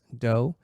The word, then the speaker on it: Do: and i'm at the chris doe that's d-o and i'm on instagram